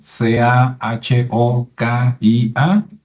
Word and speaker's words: Cahokia: cahokia qué es cahokia que se escribe kokia verdad c a h o k i a pero en Estados Unidos es cahokia y es un lugar